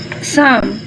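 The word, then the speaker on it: psalm: में GH silent है, साम में P साइलेंट है, थ्रू में GH साइलेंट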